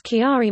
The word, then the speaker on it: Chiari: The correct pronunciation is Chiari malformation.